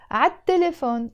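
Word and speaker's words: عالتلفون: But you notice here I wrote عاد تليفون. But if we look here in Arabic, it's written عال تليفون. I didn't pronounce the L, and that's why I wrote here the phonetic representation of the way we pronounce it basically in Arabic, عال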